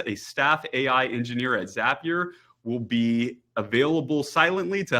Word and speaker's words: Zapier: It is Zapier. The little pneumonic to remember is Zapier makes you happier.